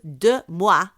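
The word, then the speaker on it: DeuxMoi: after an instagram account by the name of de moi which is spelt d-e-u-x-m-o-i they shared posts claiming that a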